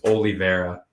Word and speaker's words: Oliveira: prediction how did i say it wrong it's oliveira holy mera yeah it's only very square i swear i've heard people say yeah whatever anyways charles oliveira is going to beat justin gabriel charles oliveira is probably my favorite ufc fighter so i'm